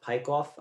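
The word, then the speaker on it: Peikoff: think her last name is pronounced pike off um she's the chief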